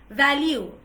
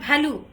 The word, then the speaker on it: value: Vehicle হবে না কিন্তু, it's vehicle, vehicle, van, vat, value, value, value, value, not value. Value হবে না কিন্তু, দুই ঠোঁট দিয়ে pronunciation হবে না, it's value.